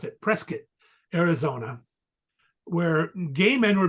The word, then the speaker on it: Prescott: it's well you would think Prescott but they pronounce it Prescott Arizona where gay men were being killed in